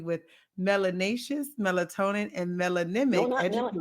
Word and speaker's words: melanic: say it's melanous no Mel melanic is melanic I don't want that extra syllable in there I want melanic and